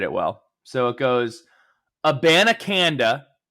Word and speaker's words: Abanikanda: So it goes, Abanikanda, that's 5 syllables for a name.